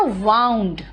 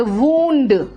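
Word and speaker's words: wound: वाइंड clear next सुना मैंने कहा वाउंड लेकिन यहां पर जखम के मामले में इसका प्रोनंसिएशन होता है वंड बोलोगे स्पेलिंग तो सेम है क्या करो कुछ नहीं कर सकती मीनिंग अलग है तो स्पेलिंग भी अलग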